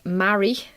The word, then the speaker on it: Marie: it's you yes me uh marie it's pronounced marry as in i'm married to damien yes yes mary i